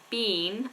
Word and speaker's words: been: accent bean and Bean if you're saying um somewhere that you have been I've been there I've been to India I've been to America I've been to China it's pronounced exactly the same as a bean that you eat like baked bean in